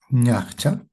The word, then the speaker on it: ñachcha: Y el español y el quechua comparten el sonido también ña, ya, por ejemplo, ñachcha. Ñcha. Ese es un objeto que sirve para peinarse. Peine. Ñchacha, ¿no? Ñcha. Esa ña es similar al españa.